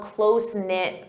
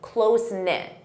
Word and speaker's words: close-knit: You can say, I'm from a close-knit family. Close-knit. Notice that pronunciation, close-knit.